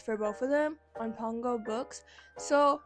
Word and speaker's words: Pango: I like resold the Haunted Adeline series for like $18 for both of them on Pongo Books. So, or Pango, I think it's pronounced Pango Books.